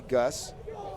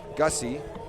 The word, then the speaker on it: Gussy: And over at third is Bradley Gus, senior pinch running. So greeted with an absolutely smash ball was Peterson. Gussy, pardon me on that pronunciation.